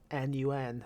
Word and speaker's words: None: the flying nun and that's spelled n-o-n-e not n-u-n the flying nun it's